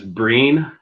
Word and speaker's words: Breen: Another one is Breen, B-R-E-E-N.